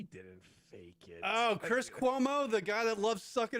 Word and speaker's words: Cuomo: Like, could you imagine like Jim Jones and them up in Harlem doing something for Como? Right. Never. Yeah, Cuomo. The only thing that rhymes with Cuomo is homo.